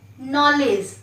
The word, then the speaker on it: knowledge: देखिए बच्चों, यहाँ के साइलेंट है, के का उच्चारण नहीं करेंगे, इसे पढ़ेंगे हम लोग नॉलेज।